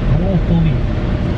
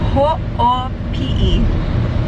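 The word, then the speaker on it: Hoʻopiʻi: Ho'opuli. What? There's no L. Did you just say ho'opuli and there's no L? Ho'opi'i.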